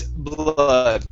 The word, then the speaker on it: blood: Instead of red blood, it's blood.